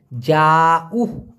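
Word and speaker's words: jauh: যাও, জে এ you, Hayes, উচ্চারণটা হবে যাউ, যাও মানে দূরে, আর ডেকাট মানে কাছে।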